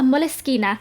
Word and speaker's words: Moleskine: Next is a Moleschina. That's how you say it in Italian because it's an Italian Italian brand and I'm just being obnoxious. So I love Moleskine notebooks.